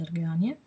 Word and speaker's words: Argania: Argania è, che si legge Arganie.